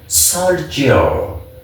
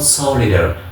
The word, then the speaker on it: soldier: soldier ተብሎ ሳይሆን የሚነበበው soldier. This is what pronounced as a soldier, right? You can pronounce this word as a soldier, not solider. Don't pronounce this word as solider.